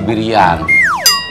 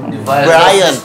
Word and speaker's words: Brian: Sudah melihat si Birian. Brian, Pak. Siberian. Dibacanya Brian, that is wrong. Yang betul itu Brian.